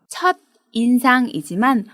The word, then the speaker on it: 첫인상: 나쁘다 처럼 쓰기도 합니다 발음에 주의 하세요 첫 인상이지만 붙여서 말할 때는 첫인상이 라고 발음합니다 이상으로 각각 접두사 에